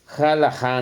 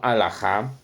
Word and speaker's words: halajá: comentario que me hicieron que pusiera halajá, no alajá, pero son pronunciaciones, son consonancias. Tengo que decirles que la H sonaba anteriormente como J.